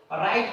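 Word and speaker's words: write: दूसरा है हमारे पास यानी कि आर। आर से पहले आने पर यानी डब्लू मौन रहता है। यानी कि अगर आपके आर से पहले डब्लू आ जाता है जैसे यहां आर से पहले डब्लू आता है तो ये मौन रहता है। इसको हम राइट पढ़ेंगे रॉन्ग पढ़ेंगे रैप और रिस्ट हो जाता है एक्स्ट्रा।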